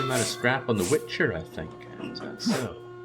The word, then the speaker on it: Wicher: be saying goodbye Witcher there was not a tea okay but the tea and Witcher is silent so uh Witcher and I don't do